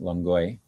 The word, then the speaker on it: Longueuil: I'm pretty sure that's how you pronounce it, Longueuil. The, The E-I-L makes that oi sort of sound.